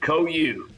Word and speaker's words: Cohu: Yeah, it's actually simpler than it looks. It's just Cohu, long O, long U.